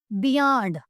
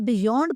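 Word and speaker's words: beyond: बियॉन्ड कुछ लोग इसे बियॉन्ड पढ़ते हैं जो कि गलत होता है, इसकी सही प्रोनाउंसिएशन है बियॉन्ड।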